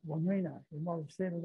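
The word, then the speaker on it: Wamena: That was called Wamina, but they now pronounce it Wamina.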